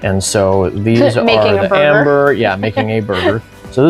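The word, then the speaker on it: Æmber: Now, in order to do that, it requires 6 amber, and that is spelled A-E-M-B-E-R, and the A and the E are kind of attached when you see it on a card.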